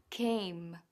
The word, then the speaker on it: came: came here forget m los labios tienen que tocar con marca bien la m cuando digas en inglés yo vine es decir I came Ella vino She came